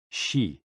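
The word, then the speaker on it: xi: associated with the spleen and X I pronounced like she which connects the whole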